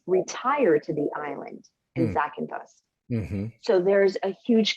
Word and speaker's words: Zakynthos: lot of Brits retire to the island in Zakynthos.